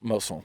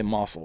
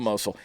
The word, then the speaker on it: Mosul: off of it Mazel moesel I'm awesome how do you say it yeah I always want to say muscle but I know that's not right that is an aerial view of Mosul it says hey for